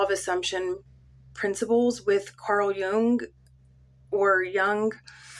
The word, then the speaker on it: Jung: assumption principles with Carl Jung or Jung. I was taught that it's pronounced young, but I hear a lot of people say Jung, so I kind of